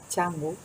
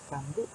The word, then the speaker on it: Canggu: La letra C es la letra Ch, por lo que se dice cha, che, chi, cho, chu, y por lo que cuando vengáis a Bali visitaréis Canggu y no Canggu.